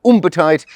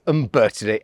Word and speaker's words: Umbertide: People pronounce it Umbertide, but it's Umbertide.